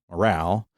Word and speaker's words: morale: So the French would have said that particular spelling m o r a l as morale. So in English they added that e so that that particular stress on the final syllable was preserved.